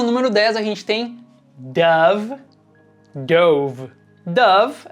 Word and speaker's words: Dove: A pronúncia original do nome dessa marca em inglês é Dove.